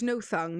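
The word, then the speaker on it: Nothung: Oh no, it's no thung. Yeah. Yeah, but so why can I only read it as not hung?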